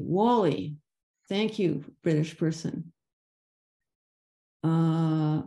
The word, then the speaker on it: Whalley: of Archbishop Thomas Cramer in England and it's pronounced Wally Wally thank you British person uh oh so this